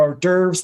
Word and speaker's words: hors d'oeuvres: these people want their hors d'oeuvres and they want them now horse they're discovering right now that's not the proper pronunciation but i'm gonna let